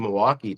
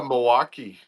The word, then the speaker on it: Milwaukee: Are you going to Milwaukee? They're like, "What?" Milwaukee, you don't say the L.